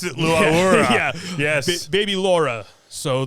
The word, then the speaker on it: Laura: Is that how you pronounce it? Laura.